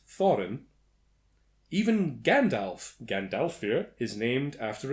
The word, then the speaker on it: Thorin: The following dwarves were in Norse mythology: Dvalin, Bifur, Bafur, Bomber, Nuri, Urin, Oin, Gandalfur, Fili, Kili, Gloin, Dori, Thorin, pronounced Thorin.